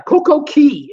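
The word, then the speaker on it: CocoCay: correct me on that didn't take long yeah koko key is how you pronounce it cuz it's spelt ca why I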